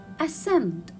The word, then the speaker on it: ascend: comes after letter s ascend ascend so here i will not read letter c because it comes after letter s muscle muscle again i